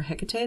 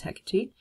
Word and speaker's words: Hecate: hecate um some pa some people call her hecate that's fine either way the greek pronunciation is hecate um she's a very